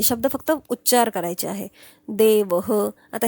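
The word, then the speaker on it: देवः: कसा प्रोनन्सिएशन केला जातो आता हा अकारांत आहे म्हणून त्या ह च प्रोनन्सिएशन विसर्गाचा विसर्गाला प्रोनन्सिएशन ह असतो पण त्याला पण अंत ओळखता आला पाहिजे म्हणजे अकारांत आहे म्हणून ह म्हणणार देवह मालाहा आता आकारांत आहे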